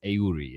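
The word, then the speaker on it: Eury: The Pittsburgh Pirates and Paul Ski on the road at the Miami Marlins and Yuri Perez. Aurori if you want to pronounce it truly in the way he does.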